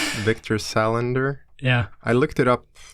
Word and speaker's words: Salander: your last name when you speak English uh salender Victor Salander yeah I looked it up some time ago